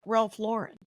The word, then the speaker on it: Ralph Lauren: Ralph Ral Lauren as but he says it's pronounced Ralph Lauren yeah yeah all I know is that his